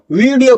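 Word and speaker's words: video: आप डब्ल्यू वाला साउंड ला रहे हो। वा का sound. वीडियो call. वीडियो इट इज वीडियो। वीडियो आई am going to वीडियो call tomorrow. I am going to वीडियो call tomorrow. इस तरीके से व की साउंड नहीं देनी। वी की साउंड देनी है।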